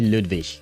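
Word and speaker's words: Ludwig: Ludvik rhymes with Hinri at least in standard German. Okay. So, it should be Ludvik.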